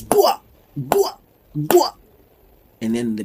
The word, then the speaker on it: Gqwa: Yeah, and you can pronounce Gqwa, it's very easy. You just gotta click it. Gqwa!